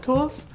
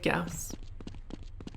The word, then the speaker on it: Gauss: the correct way to pronounce gorse, I still pronounce it gorse. I just feel guilty about it now, which is good. I am never going to say Gauss.